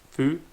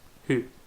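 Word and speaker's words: ふ: Well, because the Japanese sound for fu is the same as an English fu, but when you say it, your teeth don't touch the bottom of your lip.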